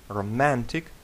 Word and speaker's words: романтичний: Романтичний. Романтичний. Романтичний. Наголос має падати на другий склад.